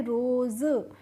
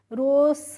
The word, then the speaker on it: rose: में आ गया ई, तो हमें इसको रोज़ क्या पढ़ना है, रोज़, रोस नहीं पढ़ना है। ठीक है। यहाँ पे हमें इसका प्रोनाउंसिएशन करना है ज करके।